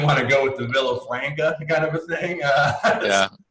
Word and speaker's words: Villafranca: dev uh today's illustrious guest is mr alex villafranca from arbeit software and uh now i assume